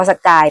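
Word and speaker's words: Sagaing: พม่า นะ รอย เลื่อน สกาย หรือ เขียน เป็น ภาษา อังกฤษ ว่า สเกียง แต่ ว่า คน พม่า เ ออก เสียง ว่า สกาย เป็น รอย เลื่อน เป็น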